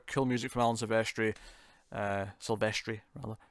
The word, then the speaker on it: Silvestri: Silvestri, rather, say it properly.